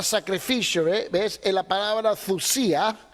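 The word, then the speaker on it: θυσία: Es la palabra thusía, así se deletrea, Thyysia, ¿no? Pero se pronuncia thusía. La Y en griego es doble O, thusía.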